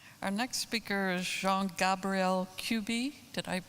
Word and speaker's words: Jean-Gabriel Cuby: Our next speaker is Jean-Gabriel Cuby. Did I pronounce that correctly?